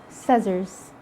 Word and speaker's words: scissors: still silent letter c letter c is silent when it comes after an s at the beginning of a word like in scissors science scenario seeing and